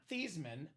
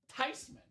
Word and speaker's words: Tyman: It's actually pronounced not Theman, not Thyman. It's pronounced Tyman." Tyman is the proper pronunciation. I told that story at my Christmas last year. My dad said, "Of course it's Tyman." That's a German name.